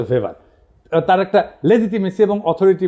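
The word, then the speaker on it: Weber: আরেকজন দার্শনিক আছে ম্যাক্স ভেভার এটা ওয়েভার বলে অনেকে এটা উচ্চারণ আসলে ভেভার তার একটা লেজিটিমেসি এবং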